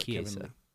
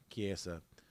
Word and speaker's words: Chiesa: Chiesa, ever since when I watched the Chiesa fight when he fought Chiesa. Kevin. Oh, sorry, I keep saying it wrong. Chiesa.